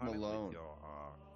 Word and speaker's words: Melon: what they are oh it's spelled like melon but it's pronounced malone and it's kevin k-e-v-i-n